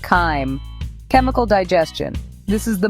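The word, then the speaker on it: chyme: The stomach's muscles act like a powerful mixer, churning the solid food and breaking it down into a creamy semi-liquid paste called kim, pronounced kim.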